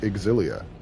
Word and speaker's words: Xillia: That's how it's pronounced, Exilia.